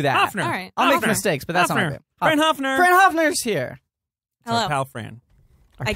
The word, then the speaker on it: Hoepfner: I know that yeah höppner that's really close movie the P is silent is just Hoffner oh okay so I